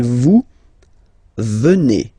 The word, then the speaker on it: vous venez: venons, okay, and then vous venez, remember a Z combined like that, et, venez, venez, vous venez, okay.